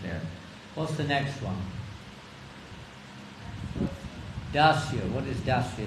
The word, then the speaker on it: Dacia: It's spelled differently, but pronounced the same, Dacia.